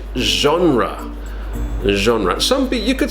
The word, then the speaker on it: genre: the first one now this is a very strange pronunciation from French I think so we say genre new genre soompi you could say genre but it's more natural